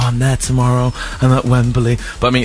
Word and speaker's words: Wembley: wrong Matt Fincher yeah a lot of people are saying it's Wembley wem you're going weberly yeah but I think